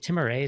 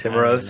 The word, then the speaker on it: Timiraos: Is it Timirays? Is that how you pronounce it? Timiraos, I believe, is how you pronounce it.